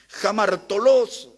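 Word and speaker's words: ἁμαρτωλός: Jamartolos, como se pronuncia, es un término relacionado con un ladrón.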